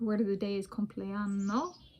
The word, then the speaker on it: Compleanno: The word of the day is Compleanno, which I pronounce slowly to differentiate from cumpleaños or cumpleaños in Spanish.